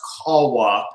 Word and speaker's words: Kalwa: Actually, it's Finnish, so it's actually pronounced Kawa.